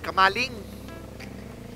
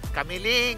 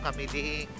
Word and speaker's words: Camiling: rin ba Oo kamali kamaling kamaling tarlak tarlak pa rin tayo Tarlac Oo bayan ng kamaling kamiling pala pronunciation n Camiling Salamat kuya Nes laki